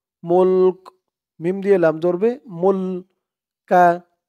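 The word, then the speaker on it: الْمُلْك: মুল কা, এখানে থামার কারণে উচ্চারণটা মুলক এরকম হয়েছে।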